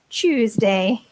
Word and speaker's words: Tuesday: of different pronunciations but the correct one is Tuesday choose the church Tuesday Francesca has returned for